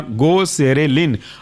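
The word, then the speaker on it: Goserelin: GO सेरे, SERE, लिन, LIN। जुड़ करके बना गोसेरेलिन।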